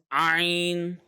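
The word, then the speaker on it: ع: And the letter Ayn is actually coming from the center of the throat, okay?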